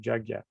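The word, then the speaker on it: yajña: okay yeah yes so this is pronounced the y is pronounced a little bit like a j and they the g and the end with the tilt over it is like g y so it's jug yeah it's not at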